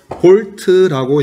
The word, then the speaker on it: V: 그 다음에 이 전압은 알파벳 V라고 적고 V라고 읽으면 안 돼요. 뭐라고 읽어야 되냐면 볼트라고 얘기해야 돼요.